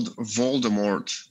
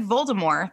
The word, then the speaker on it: Voldemort: So I think that it's the French pronunciation of the where they drop the T.